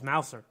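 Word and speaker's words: Mauser: here comes the hard part again oh it's Mouser okay so it's Christina Mouser 38 years old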